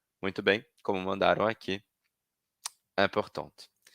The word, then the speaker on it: important: Vejam então como content, différent, prochain, passionnant e important e urgent, a gente vai pronunciar sem a última consoante, no masculino, e pronuncio a consoante final no feminino.